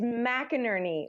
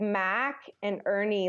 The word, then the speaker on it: McInerney: the pronunciation of its McInerney like Burnie like like Mac and Ernie like Bert and Ernie like McInerney like mac